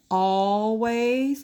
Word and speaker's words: always: We had always, and this one has two syllables too. Always. Because I see all, even though it's one L, always.